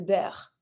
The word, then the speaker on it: beurre: The butter, le beurre. Same thing. Le beurre, EU, a sound, double R, E is mute. Le beurre.